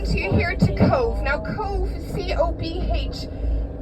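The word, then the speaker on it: Cobh: Cove now Cove c-o-p-h a lot of people ask about the pronunciation of Cove B Leach together in Gaelic make the V sound because the letter is x v w x y and z don't exist in Gaelic so therefore the VH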